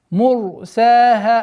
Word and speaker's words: مُرْسَاهَا: Мурсаха. Обратите внимание, ра твердое произношение. Мурсаха. Долгота в размере двух огласовок син. Мурса. И точно так же при остановке, естественно, удлинение ха. Мурсаха.